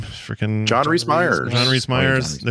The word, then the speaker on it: Rhys Meyers: Freaking John Rhys Meyers.